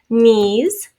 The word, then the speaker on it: knees: to review that in the sound at the beginning of a word is sometimes spelled with a silent k and then an n for example knees no i kind of